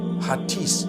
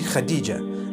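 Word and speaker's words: Hatice: across the name khadijah in turkish some people spell it h-a-t-i-c-e i would say hatis for that no it's actually khadijah in turkish that's the way they write it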